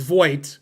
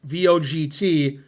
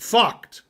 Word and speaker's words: Vogt: Now, if you're American, his name is pronounced Vogt, V-O-G-T. If you're German, which he is, it's pronounced Vogt. Vogt. That's the correct pronunciation.